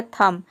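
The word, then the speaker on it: thumb: हैं जैसे कि थम यहां पे देखिए बी साइलेंट है वर्ड के अंत में जो बी आ रहा है इसको हम प्रोनाउंस नहीं कहते हैं टी एच का हो जाएगा थ यू का हो जाएगा अ और एम का हो जाएगा म बी साइलेंट है यह हो जाएगा थम थम का मतलब होता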